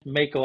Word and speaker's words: Macho: from Mako outdoors and let me just say it is 100 Mako Outdoors you've been saying it right so we have Jay